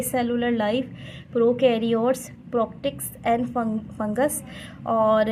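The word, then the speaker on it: fungi: उसके बाद लाइन से चैप्टर देखें, ए cellular life, prokaryotes, प्रोक्टिक्स एंड फंगस, और इसको फंजाई भी पढ़ते हैं, इसको फंगी भी पढ़ते हैं, ठीक है। फंगी इसका सही प्रोनाउंसिएशन है।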